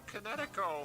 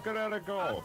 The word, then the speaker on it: Kinetico: Kinetico. Kinetico? You mean the water conditioner that uses no electricity? Are you kidding? Everybody knows how to spell Kinetico.